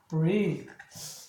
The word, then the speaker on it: breathe: 그래서 얘를 무성음 발음으로 해주고 얘는 동사니까 유성음 발음. 그래서 breath. 얘는 breathe.